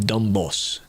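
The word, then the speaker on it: Dombås: The AI summary says you basically pronounce it like dumb boss, which I guess makes sense.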